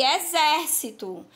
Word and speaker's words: exército: que estão aqui ó tem aqui exercito e exército Então qual é a diferença em relação ao significado e a sílaba tônica a mudança da da sílaba tônica modif é bem o significado da palavra e quando devemos utilizar